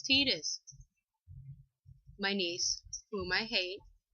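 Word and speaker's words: Tidus: all look at tetus I can't believe I called him tetus because I typically call him Titus but the actual pronunciation is tetus my niece whom I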